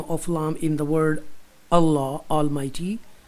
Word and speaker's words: Allah: And if the letter before the lam in the word Allah Almighty has a zair, then it will be pronounced with tarqiq.